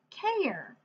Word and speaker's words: care: all I hear oh there must be a silent letter on the end making that a say its name air care yeah taking care of